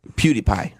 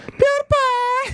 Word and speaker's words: PewDiePie: There PewDiePie. That's not how you say it. PewDiePie.